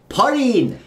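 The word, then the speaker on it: ポリン: again but remember though in order to say Pauline properly you have to drag out the I sound so once again we've got porin instead of porin porin yes exactly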